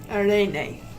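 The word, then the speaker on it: araignée: Well, aren I like that aren much nicer than the word spider.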